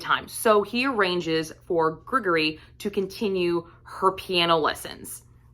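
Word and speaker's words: Grigory: his best friend and I believe you pronounce his name Gregory it's g-r-i-g-o-r-y I don't believe it's Gregory I think it's Gregory I'm not 100 sure on that one so um but Marcus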